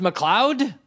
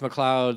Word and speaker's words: MacLeod: it doesn't really matter it's pronounced MacLeod ie sure it could be pronounced MacLeod or McLeod's depending on where you're from III answered the most